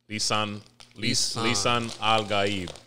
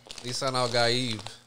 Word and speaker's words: Lisan al-Gaib: Lisan al-Gaib. Lisan al-Gaib.